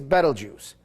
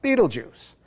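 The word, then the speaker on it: Betelgeuse: it marks the shoulder star of the great star giant Orion the Hunter and its name is bju which most people pronounce Beetlejuice and if you've ever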